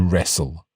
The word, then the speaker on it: wrestle: to point out that in the word wrestle we don't really pronounce the T that's right we almost